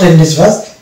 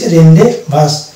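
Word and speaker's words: rendezvous: fair এবং রেন্ডেড বাস রেন্ডেজ বাস নট রেন্ডেজ বাস ইট ইজ রেন্ডে বাস লাইসে fair এই যে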